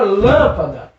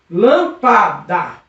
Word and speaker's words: lâmpada: Lâmpada. Percebeu que essa sílaba é forte, professor? Essa sílaba tem potência, essa sílaba é uma sílaba tônica, é uma sílaba forte, é uma sílaba que eu acredito que é para ser acentuada. É mesmo, professor? Isso mesmo. Lâmpada é uma palavra proparoxítona.